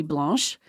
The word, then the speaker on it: blanc: out to me that if you're really saying a white shell it should be blanch oh Loki blanch um but I'm talking about wine and it's male so it's a Blanc I was having this